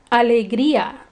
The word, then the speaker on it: alegría: However, there are some words, such as rio, which means river, dia, which means day, and alegría, which means happiness, that, as you can hear in their pronunciations, they break this rule. Therefore, a written accent is required over the I.